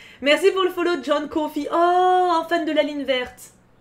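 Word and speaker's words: Coffey: verte je t'aime déjà ça s'écrit comme le confie mais ça se prononce pas pareil non ça se prononce comme le café mais ça s'écrit pas pareil ah oui alors je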